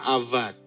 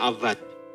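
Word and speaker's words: עבד: Nah, kata mengusahakan yang kemudian jadi to work, ya, itu dalam bahasa Ibraninya avad. Tulisannya abad tapi dibacanya avad.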